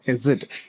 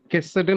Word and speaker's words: Chesed: கருத்து உங்களுடைய இன்றைய சர்மன்ல எனக்கு பிடிச்ச ஒண்ணு, நீங்க யூஸ் பண்ண வார்த்தை ஹெசட். சரிங்க, ஆக்சுவலா வந்து தட் ஷுட் பி ப்ரொனவுன்ஸ்ட் எப்படின்னு கேட்டீங்கன்னா CHESED. இதை வந்து கெசட்னு நம்ம ஆங்கிலத்தில் ப்ரொனவுன்ஸ் பண்ணுவோம். பட் அந்த சி வந்து சைலண்ட்ல இருக்கணுங்க.